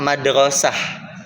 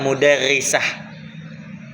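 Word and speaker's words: مدرسة: Limadha Pak Rido takro madrasah laisa mudarrisah. Iya, kenapa di sini kita membacanya madrasah bukan mudarrisah?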